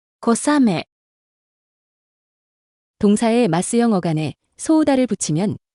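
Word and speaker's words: 小雨: 큰 비와 가랑비는 아메 앞에 각각 클대, 작을소를 써서 표현합니다. 발음에 유의해서 들어보세요. 大雨、大雨、小雨、小雨。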